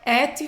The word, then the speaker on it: et: Não é et vos, é e, não pronuncia o T.